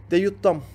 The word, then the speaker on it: DJ Dam: O zaman ilk olarak Deyut Dam yani DJ Dam ama harf olarak okunduğu için Deyut Dam diye okunuyor.